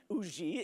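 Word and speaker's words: Huger: Yes, we had landed at the plantation of a Monsieur Auger, Benjamin Sugar, or Auger is the way you pronounce it there, Auger in South Carolina, an ardent patriot, but he had mistaken me and my companions for Englishmen.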